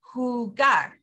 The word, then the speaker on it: jugar: Remember the J in Spanish, we talked about this in our last lesson makes a H sound. Since the H is silent, the J makes up for it and it goes huh. So jugo, jugo, or jugar. Okay, that J is making the H sound.